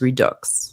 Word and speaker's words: Redux: as a French person I do pronounce the X in Redux so I was pronouncing it wrong it is Redux Robin thank you so